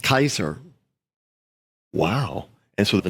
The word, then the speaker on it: Caesar: Remember, C in Latin, in formal Latin, is pronounced K. So it would have been pronounced Kaiser.